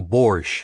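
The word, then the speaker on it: borscht: his mom had made Mrs Anders had insisted on pronouncing Bor the way it was spelled sounding Out The Silent te and no matter how often he said it correctly she refused to vary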